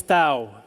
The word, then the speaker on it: Thau: It rhymes with cow. Sow. Rebecca Ann Louise Thau.